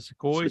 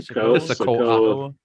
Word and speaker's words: Sikoa: How do you say him? It's a Sequoia. Sikoa.